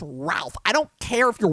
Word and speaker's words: Ralph: movies you know to pronounce his name I'm like dude your name is not spelled it's pronounced Ralph I don't care if